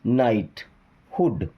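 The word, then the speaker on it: knighthood: बन जाएगा हार्मोनिकस देन अब देखिए एन के पहले अगर के रहेगा ना तो के साइलेंट होगा उसको पढ़ना ही नहीं है के से शुरुआत नहीं होगा एन से शुरुआत होगा है ना के साइलेंट होगा तो एन आई जी एस टी नाइटहुड क्या बनेगा नाइटहुड किसी वर्ड में अगर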